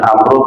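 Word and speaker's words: عمرو: Amru, dari Abdullah bin Amru bin As. Tadi kata Umar, kata Umar, kalau depan rohnya ada wawu, itu bacanya Amru. Kalau tidak ada wawunya, bacanya Umar. Bacanya Umar.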